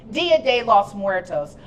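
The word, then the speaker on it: Día de los Muertos: It's Dia de los Muertos, a creative celebration to honor our ancestors, and I pronounced that right.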